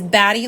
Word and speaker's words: Batty: I would, I'm trying to make sure we pronounce the T's, so it is Batty, like bats and Batty.